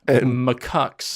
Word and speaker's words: macaque: Mack the the Japanese macaque yes all macaques we haven't got to the bottom of how that's pronounced I think it's macaque by that we haven't